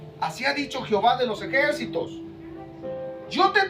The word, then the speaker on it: Jehová: recapitular un poquito dice Jehová es la pronunciación aceptada en español de las letras y H w H el nombre de Dios